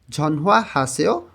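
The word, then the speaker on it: 전화하세요: ধুশি অর্থাৎ 2টার সময়ে ঝনহুয়া হাসেও ফোন করুন। ঝনহুয়া হাদা তো ফোন করা, সেও দিয়ে অনুরোধ করতেছে করুন। দেখেন কোরিয়ানরা যখন দ্রুত কথা বলে তখন এই নিউনটাকে হিউতের স্থানে নিয়ে উচ্চারণ করে ঝনহুয়া হাসেও, ঝনহুয়া হাসেও ফোন করুন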